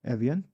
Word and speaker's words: Evian: In Evian, which is the G7, and maybe... Okay, I pronounced it right, Evian.